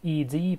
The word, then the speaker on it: ed: took a good old ad text editor which is the standard Linux Etc I'm sorry for for pronouncing this round I know it's pronounced like Ed but I like pronouncing